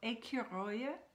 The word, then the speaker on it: écureuil: You know that the first E is accent aigu, so it's écure. C-U-R-E is just like cure in English. Écure, and then oya.